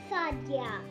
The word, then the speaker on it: Sadia: the right way to say my name is Sadia.